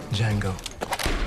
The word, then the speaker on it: Django: Django. D is silent.